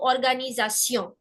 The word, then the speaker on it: organisation: So organisation.